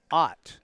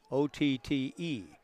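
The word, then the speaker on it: Otte: The cleanup hitter has a very familiar last name, kind of a variation on the theme, but Halen Ott, O-T-T-E, but pronounced as in Mel.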